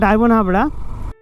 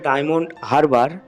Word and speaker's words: ডায়মন্ড হারবার: আর এই কুলপি থেকে আমরা কিন্তু নেব হচ্ছে বাঁদিকে, ডান দিকে গেলে ডায়মন্ড হাবড়া, উচ্চারণটা হবে ডায়মন্ড হারবার। আমি বারবার ডায়মন্ড হাবড়া উচ্চারণ করেছি, যার জন্য আমি দুঃখিত।